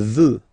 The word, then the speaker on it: veut: Il veut, final T not pronounced.